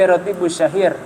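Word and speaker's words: الراتب الشهير: Namanya sebenarnya bukan Ratibul Haddad, tapi Ratibus Syahir. Ratib yang sangat masyhur sebenarnya. Baru Ratibus Syahir lil Imam Al-Haddad. Harusnya begitu cara bacanya.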